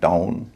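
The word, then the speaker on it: town: दूसरा नियम ओ डब्ल्यू जब शब्द के बीच में होता है तो उच्चारण होता है आउ। जैसे बी आर ओ डब्ल्यू एन ब्राउन टी ओ डब्ल्यू एन टाउन सी आर ओ डब्ल्यू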